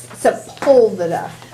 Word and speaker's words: Sepulveda: Do you know how to say the sepulveda? The accent's on the P-U.